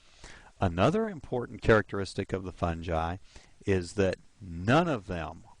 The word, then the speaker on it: fungi: I pronounce it fungi. Some people pronounce it fungi.